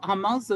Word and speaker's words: hummus: Hummus is like it's actually pronounced hummus.